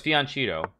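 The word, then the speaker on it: fianchetto: And more drop, no, it's Fianchito. I mean, that's how you pronounce it when you open up a diagonal for the bishop.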